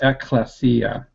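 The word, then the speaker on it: ἐκκλησία: Before he says assembly, I would pronounce that ekklesia. Ekklesia, okay. Keep correcting me, I'll get it right one of these days. Ekklesia, okay. All the vowels there should be short, and the accent is on the final iota.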